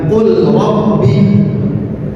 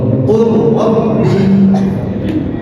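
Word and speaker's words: قل رب: Cara membacanya dengan diidghamkan. Qulabbi bukan qul rabbi tapi qur. Betul. Qurabbi qul rabbi.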